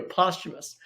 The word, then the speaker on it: posthumous: But anyway, all right, here we go, posthumous. Posthumous, that is how it's pronounced. It doesn't look like it is, but I promise that's how it's said.